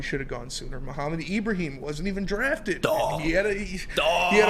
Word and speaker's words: Ibrahim: And on the topic of Mo, Ibrahim, I learned how his name is pronounced. I've been calling him Ibrahim too. Sorry, Mo. Ibrahim.